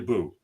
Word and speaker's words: Bo: Yeah, and speaking of mispronounced, Bo, do we call you Bo or do we call you Boo?